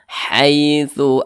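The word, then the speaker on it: حيث: Nah, maka cara bacanya itu harus hati-hati, jangan sampai condong ke i. Jangan dibaca haitsu akhrajukum, jangan hai pakai a, hai, jangan hai. Haitsu akhrajukum.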